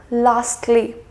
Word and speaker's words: lastly: so you see that I did pronounce the T here lastly justly and mostly so